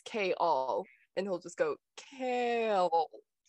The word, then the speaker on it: Chaol: she'll be like it's kale two syllables and he goes kale and she's like no it's like not the vegetable it's k-all and he'll just go